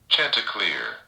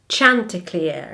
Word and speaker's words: chanticleer: Chanticleer. Chanticleer, I think. Chanticleer. Chanticleer. So I actually said Chanticleer, but I think it's more of like a ch.